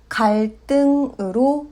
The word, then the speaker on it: 갈등: 갈등. 앞 글자의 받침이 리을이고 뒤에 디귿이 왔습니다. 받침 리을은 르로 발음하고 뒤에 오는 자음 디귿은 뜨로 발음합니다. 갈등은 갈등으로 발음합니다.